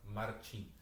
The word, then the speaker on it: Marcin: It's And pronounced Marcin.